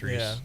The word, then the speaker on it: Rhys: New show on Netflix starring Claire Danes and Matthew Rhys. Is that how you say it? The guy from The Americans. Oh, I need older people to talk to. Is it R-H-Y-S? Yeah. Yeah, it's Reese.